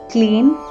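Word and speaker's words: क्लीं: this world the syllable kli registered deeply and clearly in sudarshan's attention and he began to chant it actually clean with a nasal sound is a mantra containing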